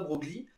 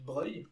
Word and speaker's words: Broglie: Attention, ça ne se prononce pas Broglie. Et donc il était vraiment prince. GL en italien ça se prononce vieux si je ne me trompe pas et c'est pour ça qu'on dit Broglie.